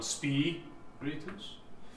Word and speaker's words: spiritus: For example, the word spiritus, the word accent is on spiritus.